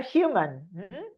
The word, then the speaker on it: human: If outer condition, we are human. This is another. Remember that the H in English is pronounced like our J. Human. In Spanish it's silent, but in English we pronounce it.